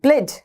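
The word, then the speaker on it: pledge: प्लेज, प्लेज, प्लेज, प को आधा बोलना, प्लेज कैसे प्रोनाउंस करोगे, प्लेज, प्रतिज्ञा गिरवी रखना, प्लेज करना, प्रतिज्ञा करना, ठीक है।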